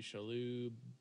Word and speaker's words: Shalhoub: I think Tony Shalhoub.